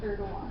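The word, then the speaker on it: Erdoğan: We're both right, because like, you're pronouncing it like phonetically, but like, it's pronounced Erdogan.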